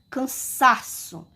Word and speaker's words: cansaço: Eu falei a sílaba sa. Ela foi a sílaba tônica da palavra.